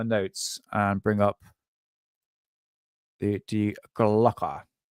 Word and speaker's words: Die Glocke: and bring up the de glocker not Decker yes de glocker the German pronunciations says it a little bit differently right let's do this